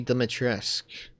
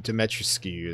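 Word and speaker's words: Dimitrescu: uh lady d a lady demetrisk glad that's how it's pronounced not how i thought it was damn dimetroscu because it never sounded right saying it oh there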